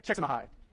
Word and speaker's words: Csikszentmihalyi: Csikszentmihalyi? Not Csikszentmihalyi? Okay. Mihai Csikszentmihalyi.